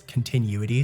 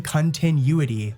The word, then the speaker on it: continuity: Also, you guys have been on my ass about how I pronounce continuity, so let me get it right one sec. So I've been saying continuity, but it's continuity. Continuity, there we go.